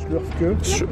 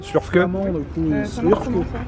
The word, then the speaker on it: Slurfke: Slurfke. Ouais, comme ça s'écrit. Slurfke.